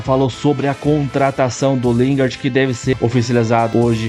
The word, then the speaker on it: Lingard: As informações do Lindenberg, a a pronúncia tá certa? Lingard.